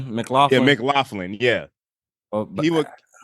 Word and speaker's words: McLaughlin: kill that role is Caleb How do you pronounce it? McLaughlin, Yeah, McLaughlin.